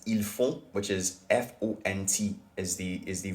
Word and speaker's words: font: So even though it ends in T, you don't pronounce the T.